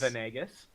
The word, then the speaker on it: Venegas: Leah Yes, Venegas. yes, that is how his name is pronounced. Leah Venegas, Shun Kazumi, Winton Styles, and Best Boy Lightning.